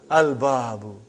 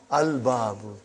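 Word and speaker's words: الباب: Al-babu. Is it moon letter or sun letter? Moon letter. You did pronounce lam. Al-babu.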